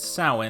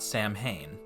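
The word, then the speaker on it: Samhain: and the Isle of Man and yes it's pronounced sa not Sam Hayne despite its spelling Celtic days started at sundown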